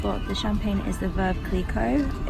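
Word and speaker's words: Veuve Clicquot: journey here we've got the champagne is the verb cleco it's that's how you pronounce it or the orange one as I'd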